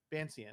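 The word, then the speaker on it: Vancian: Is it uh ven Venetian? Not Venetian. Uh, man casting magic. Vansenian. Vansian.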